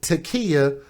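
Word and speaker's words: T'Kia: spelled kind of odd it's it's t apostrophe k-i-a takia last name beverly not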